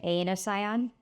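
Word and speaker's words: Aenocyon: Anosion. Can you spell that?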